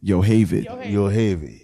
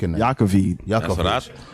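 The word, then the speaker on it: Yocheved: She pronounces it Yohavid. I was about to say Yakovid. I was about to say Yakovich. That's what I first called her. She was like, no, it's Yohavid.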